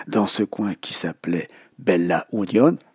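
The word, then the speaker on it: Bella Unión: ce coin qui s'appelait Bella Union, Beja Union, comme le prononcent les Uruguayos.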